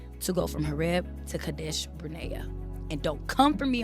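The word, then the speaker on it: Kadesh Barnea: It takes 11 days, one to go from Herb to Cadesh Brena.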